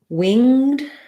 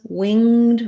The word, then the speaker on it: winged: winged and you're right we can say it as winged with just the ng sound plus the d sound um so that would be like winged a four-winged creature i guess there's probably not anything with four wings but or wing ed um we can this